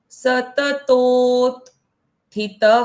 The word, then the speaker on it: सततोत्थितः: Okay, बाद में जो अक्षर है यहाँ पर हमको आधे त का उच्चारण पहले कर लेना है। जैसे सततोत थितः।